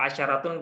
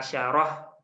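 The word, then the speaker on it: عشرة: ini kadang juga ee ada yang membacanya dengan mematikan huruf akhirnya itu gak masalah jadi eh asyaratun biasa juga dibaca asyarah itu gak masalah yang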